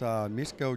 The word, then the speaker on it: Mieszko: Mieszko? Mieszko, that's how you pronounce his name, Mieszko.